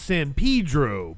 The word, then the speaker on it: San Pedro: Yeah, I was saying San Pedro. It's San Pedro. Pedro. the way, and you might it's white people pronunciation.